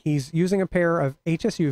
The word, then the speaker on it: Hsu: say Shu I always I say Hsu because it's it's capitalized and if you're searching for it it's like well now you know exactly what we're talking about if I say sure you might spell that it might look for like a thing you put on your foot yeah yeah so let's